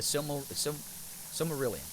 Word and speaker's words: Silmarillion: Rhymes with Silvermillion, the Silmarillion.